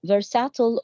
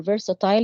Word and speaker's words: versatile: So the activities are versatile or versatile.